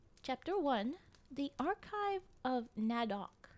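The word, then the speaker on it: Nedoq: the archive of Nadok. N E D O Q. That's how I'll be pronouncing it as we go along.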